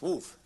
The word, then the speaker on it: WFF: And the formation rules tell you when an expression is well formed, generally written by the logicians as WFF, without dots, usually italics, and pronounced woof, like a dog.